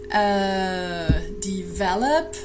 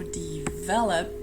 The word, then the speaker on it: develop: The next word, develop. So the difficulty here is where to put the stress. Well, it's on the second syllable, so make sure that's the way you pronounce it. You know, develop, that's the one you need to stress.